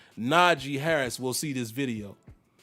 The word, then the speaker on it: Najee: down so beautifully he was like it's not na j it's not j he said my name is spell